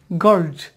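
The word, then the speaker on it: girls: আগে থেকে হয়তো আপডেট হয়ে আছে সেটা সঠিক উচ্চারণ হচ্ছে গার্লজ গার্লস হইতে হবে যেমনটি এখানে বয়েজ আমরা কখনো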